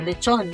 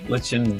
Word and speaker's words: lechon: Lichin' Baboy? Lechon.